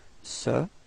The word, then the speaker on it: ce: have actually two forms the first one is Sir and the second one is set okay so repeat sir and then set all right feminine form